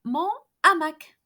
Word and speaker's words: hamac: Mon habit, c'est mon hamac. My hammock. C'est mon hamac. Hamac is a word beginning with an aspirated H. H aspiré.